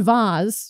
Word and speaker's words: vase: in New York State, so I say vase. Uh-huh. I call it yeah. Vase as well. I feel like vase is the mainstream. Is the mainstream pronunciation. Yeah, so that's my preference.